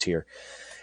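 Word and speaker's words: Týr: ahead to the 28th i think that's actually pronounced tier i'm sorry tyr i think this pronounced tier anyway um june 28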